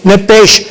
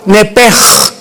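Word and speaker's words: נפש: nepesh, como suena, N-E-P-S-H-M, nepesh. En el hebreo se pronuncia la SH como J, nepej.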